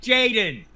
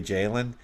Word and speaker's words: Jayden: Say it right, Jayden Daniels. Excuse me. Did I say Jalen? Yeah, I did, didn't I?